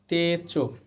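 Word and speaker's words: 手帳: তারপরে আছে তে চো তে এরপর হচ্ছে চো উটা কিন্তু উচ্চারণ হবে না একটা নিয়ম আছে যদি ও ধনির পরে উ আসে তাহলে উচ্চারণ হয় না এখানে কিন্তু এই যে এটা হচ্ছে ওধনি এইযে চি ইও চ এর সাথে আছে ইও হবে চ তাহলে এখানে চ ওধর্নি আছে এরপর উ আছে উচ্চারণ হবে না তেচ তেচ হচ্ছে পকেট নোটবুক নোটবুকের ছোট্ট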